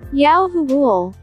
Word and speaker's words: Yahuwah: yahuwah john 3 3 holy scriptures pronounced yahuwah accented on the syllable yao 5 for yahoo all